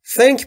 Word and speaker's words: think: دوستان تلفظ TH در think رو دقت بکنید. زبون پشت دندونه بالا. سعی میکنیم بگیم سه سه سمیه.